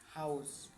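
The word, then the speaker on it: Haus: আ উ এর উচ্চারণ হচ্ছে আও এর মতো, যেমন হাউস, আও।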